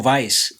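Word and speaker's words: Weisz: E o nome vais? O nome vais é Vais mesmo que se pronuncia, porque ela, o nome vais é de origem húngaro germânica.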